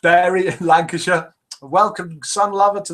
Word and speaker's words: Bury: we've got Fleur arose from Barry pronounced bury lancashire welcome son lover